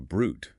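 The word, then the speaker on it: bruit: It's called a brute, pronounced br.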